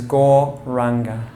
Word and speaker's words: gauranga: beginning of the class is gauranga we break it up into four syllables gah gah gah it's on the outward breath the mantra sounds like gore again is your inhale